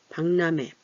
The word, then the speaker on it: 박람회: 박람회, 박람회 발음하기 어렵죠? 이 리을이 설치금이지만 유성음화된 소리예요. 그래서 얘가 콧소리를 유성음이 뭐예요? 약간 콧소리 나는 거죠? 그래서 얘도 박 이렇게 하는 것보다 방 얘랑 비슷하게 바뀌어요.